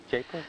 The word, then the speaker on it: Jaipur: So far, the Okay, evidence is astronomical that the monkey prince does exist here in Jaipur. Yeah. That's how you pronounce it. Jaipur. Jaipur.